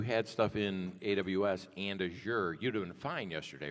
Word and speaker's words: Azure: I'm bougie, so I say Azure. It is actually pronounced Azure. There's a whole YouTube video on that, believe it or not. It's actually pronounced Azure, like pressure.